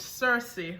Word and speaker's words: Cerassi: it's Spencer SC pronounced Circe we Jamaican that's what we pronounce it one of the things